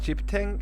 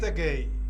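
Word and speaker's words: Cheptegei: I call him, I want to pronounce it properly. Chipteng. Oh, wait. Chiptegei. Chiptegei?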